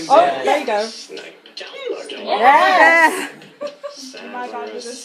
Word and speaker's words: Snape: Snape. Yes. Severus Snape. Snape. My bad. Snape. Severus Snape. Snape. Yay! Severus Oh, yeah. Snape.